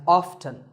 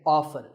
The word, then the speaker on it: often: next up is often some pronounce this as often now strictly speaking often is not wrong but the more common pronunciation is with the T silent so I recommend that you always say often one word that's often